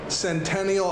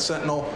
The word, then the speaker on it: Centennial: the second hop drop that is Centennial I know earlier I misspoke said Sentinel I've been saying it wrong for weeks so here we go